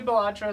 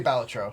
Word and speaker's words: Balatro: up batro idea that the Creator intentionally pronounced it differently in every interview just so fun like sometimes he would say batra sometimes he would say batro I say batro yeah really really yeah